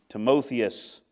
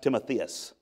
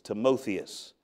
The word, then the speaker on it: Timotheus: your path notice real quickly Paul's associate and timothius our brother that's not pronounced timotheus it's timothius timothius our brother you're not sinning against God